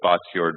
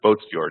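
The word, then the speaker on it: Båtsfjord: it's called boat F it's spelled with one of those funny A's with an O over it so it looks like Bots yord but they pronounce it boats yord and we our word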